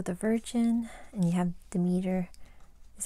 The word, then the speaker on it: Demeter: you have virgo the virgin and you have demeter is how you say it as the goddess